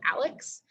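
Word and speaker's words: ALEKS: math very differently we use a program called alex um and it is spelled a-l-e-k-s if you're interested in looking it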